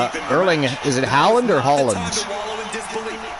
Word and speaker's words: Haaland: Man City's Erling, is it Haaland or Holland? Haaland.